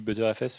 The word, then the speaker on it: Btrfs: Il dit ButterFS, enfin ça se prononce ButterFS, mais le nom c'est BTRFS pour Butter File System. Ouais, non mais c'est pas Better en fait, enfin ça se prononce Butter.